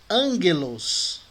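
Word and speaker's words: ἄγγελος: micro a pronúncia é ângulos e o Anglo tá vendo aí os dois Gamas juntos O primeiro é pronunciado como m bom então a palavra anjo em grego é ângulos mas a grafia lá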